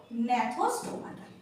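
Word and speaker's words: Gnathostomata: আমরা বলি, প্রোনাউন্সিয়েট করি আনাথা, আমরা প্রোনাউন্সিয়েট করি আনাথা। আর ন্যাথোস্টোমাটা, এখানেও একটা জি রয়েছে, আর ন্যাথোস্টোমাটা।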